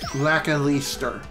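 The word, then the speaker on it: Lakilester: Funny enough, Lakalister's name is pretty dang hard to pronounce, but I do believe it is pronounced Lakalister. Kind of like saying Whis from Dragon Ball Super.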